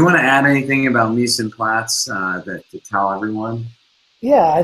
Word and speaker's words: mise en place: He runs a company called mepNYC, mise en place, if you will. Did I pronounce that correctly?